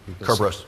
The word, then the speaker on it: Kerberos: matter we also we also say I'll say Kerberos how will you say it so if you cover us yeah excellent so that's how you pronounce it as opposed to yeah the alternative